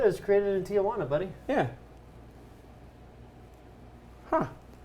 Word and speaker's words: Tijuana: You said it with 4 syllables just now. Oh, it's Tijuana? Tijuana.